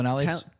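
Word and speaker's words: Viñales: No, Vinales. You said it right. Vinales.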